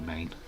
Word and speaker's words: Maine: There's only one state of America with only 1 syllable, and that is Maine.